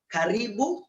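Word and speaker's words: karibu: r i b u just the way you pronounce it caribou kenya from the hindi word maybe from karim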